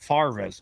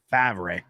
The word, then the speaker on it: Favre: that Brett farvis or let's say it properly fabre the argument isn't that